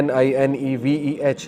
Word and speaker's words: Nineveh: تو ادس نے کہا کہ میں نینوا سے ہوں۔ نینوا اس کا تلفظ ہے NINEVEH۔ نینوا جو ہے یہ عراق کی ایک سٹی